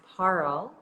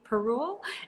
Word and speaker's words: Parul: So my name is pronounced Parl, like Carl with Good. a P. Parl.